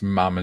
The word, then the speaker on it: ma'am: Yeah, it's mama as in ham. Not mama, not mom as in harm.